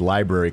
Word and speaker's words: library: someone was you know pronouncing the word Library correctly there go that kind of triggered that I was like oh wait a minute Ken's not there I heard an extra R in there yeah I swear I